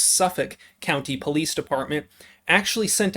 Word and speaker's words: Suffolk: and how the suffolk i'm being told it is pronounced suffolk county police department actually